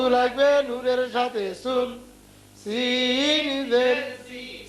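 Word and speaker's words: سين: পড়বো তিনটা আলে ফোটা নাই তার নাম হলো সিন তিন আলে নাই ফোটা তার নাম সিন তার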